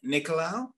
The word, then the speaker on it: Nicolau: So here we have Brendan Nicolau. Am I pronouncing that correct?